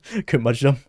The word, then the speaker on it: curmudgeon: Rhymes with for fur, fudge, hum. So mudge jun. Curmudgeon. Curmudgeon.